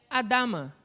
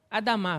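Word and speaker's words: אֲדָמָה: Já a palavra terra é Adama. Adamá, perdão. A sílaba mais forte é a final.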